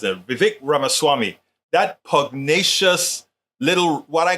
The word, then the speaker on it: Vivek Ramaswamy: Vivek Ramaswamy. That's how he says it. Vivek Ramaswamy.